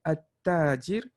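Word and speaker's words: التاجر: See, we have to pronounce all of the al, which is the completely opposite with the second column, which is you completely ignore the alif, the lam, right? You say at-tajir, al-thawb, ad-dik, al-dhahab.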